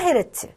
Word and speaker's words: 헤르츠: h 대문자 소문자 제트 읽을 때는 해에 루프트 라고 읽고 진동수의 단위 입니다 그래서 얘 주 동안 5회 진동했다 그럼 5 헤르츠 해초 동을 10회 진동했다 10 헤르츠 싸 우리